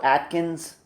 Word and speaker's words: Adkins: last name is also Atkins yes but his his last name is spelled a d okay okay i n s it is a different spelling it's a different spelling but it sounds the same yes all right just